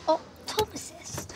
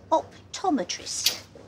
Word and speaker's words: optometrist: optometrist says about that did you say optomist uh not quite I said optometrist oh W that's a